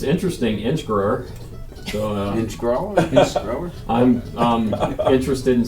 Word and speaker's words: Inchgower: in the wording, but there is an L in the pronunciation. pronounced like- Inchgower. Yes. Okay, Inchgower.